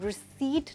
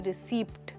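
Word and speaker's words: receipt: पी की sound नहीं बोली जा रही है, हम कहते हैं रिसीट ना कि रिसीप्ट। और रसीद तो बिल्कुल भी नहीं।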